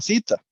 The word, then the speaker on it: theta: Esta letra se llama zeta, ¿verdad? Theta, pero se pronuncia zeta. Entonces, digo yo que se pronuncia zeta.